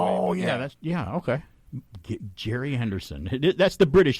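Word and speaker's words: Gerry: everything the guy did I thought his uh name was Gary because it was spelled with a g in the credits I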